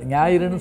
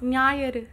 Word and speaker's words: ஞாயிறு: ஹரிணி, அந்த சின்ன சின்ன தயக்கங்கள், உச்சரிப்பில் கொஞ்சம் கவனமாக இருக்கணும். ஞாயிறு அதெல்லாம் சொல்லும்போது சரியாக சொல்லணும். உச்சரிப்பில் இங்கும் அங்கும் சில தடுமாற்றங்கள் இருந்தது, அதை சரி பண்ணிக்கிட்டீங்கன்னா மற்றபடி உற்சாகமாக பேசுனீங்க. ஒன்றும் இல்லை, ஞாயிறுன்னு சொல்லுங்களேன் பார்க்கலாம். ஞாயிறு ஞாயிறு அப்படின்ற சொல், தாய்மொழி தமிழ் தான் இல்லை வேறு மொழியா? ஞாயிறு அது சொல்லி பழகிங்க. இது உச்சரிப்பு, இன்னும் ரெண்டு மூணு சொற்களை நான் கவனித்தேன்.